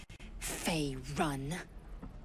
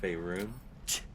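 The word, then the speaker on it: Faerûn: Fey run. No, it's pronounced Faerun.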